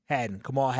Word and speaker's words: Kamal Hadden: Kamal Hadden.